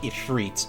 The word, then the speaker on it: Ifrit: pardon me that probably should be should be pronounced Ifrit but uh I done